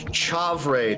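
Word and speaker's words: chèvre: the four cheeses blue uh how do you pronounce this chauvre c-h-e-v-r-e cheddar and mozzarella see i don't know about that chavray cheese but i mean you know cheddar and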